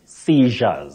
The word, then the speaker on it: seizure: a whisker or by an inch you say seizure seizure then the plural form seizures okay seizure now we have the word SE